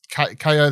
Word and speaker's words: Kao: You know, it's like this Kao The Kangaroo, like pronounced K-O, but spelled K-A-O.